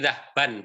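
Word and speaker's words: ذهابًا: Jadi dhahban, tulisannya dhahban. Tapi biasanya pengucapannya dhahba.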